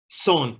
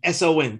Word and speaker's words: son: Son, S-O-N, Cuban S-O-N. Son. Cuban son. You know, so you say, it's like spelled like son, but you say son.